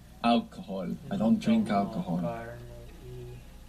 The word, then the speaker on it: alcohol: Good, because Alcohol. we don't pronounce H in Spanish, do we?